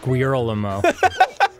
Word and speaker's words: Guillermo: First of all, it's pronounced Guillermo. I think you should. Guillermo.